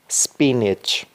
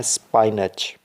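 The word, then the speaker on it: spinach: स्पिनच। स्पिनच। यहाँ पे दोस्तों आपने याद रखना है अक्सर लोग इसको प्रोनाउंस करते हैं स्पाइनच। स्पाइनच, जो कि गलत है। तो इसकी सही प्रोनाउंसिएशन क्या है? स्पिनच। स्पिनच।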